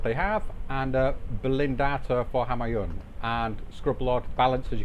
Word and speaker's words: Homayoun: Hello, hello, back again and playing, well, casting a game between, I just found out how to pronounce his name, it's Homayoun and Total Scrubblord in Division 5.